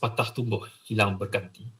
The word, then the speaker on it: patah tumbuh, hilang berganti: It's pronounced patah tumbuh, hilang berganti.